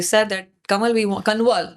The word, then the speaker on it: Kanwal: And they said that Kanwal, Kanwal, मेरा नाम है KANWAL, because N is silent, Kanwal है।